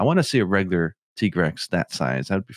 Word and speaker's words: Tigrex: tiger i i i want to say it's tigrex even though officially it's t-grex i still like tigrex okay dino where do